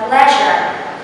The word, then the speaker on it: pleasure: Next one, remember this sound is pronounced like zh. So we have to say a sentence like, it's my pleasure.